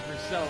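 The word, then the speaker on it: Bruxelles: is uh now into brucell turn number eight english speakers will probably call it brussels but it has a french name so it's pronounced for cell now no name corner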